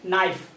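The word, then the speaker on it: knife: silent है क्या है के साइलेंट है यानी कि के के जस्ट बाद एन आए है ना के के जस्ट बाद एन आए तो उसको हम लोग क्या उसको हम लोग उच्चारण नहीं करते हैं यानी के को हम लोग क्या करते हैं साइलेंट रखते हैं तो इसको क्या पढ़ेंगे नाइफ है ना तो जो ना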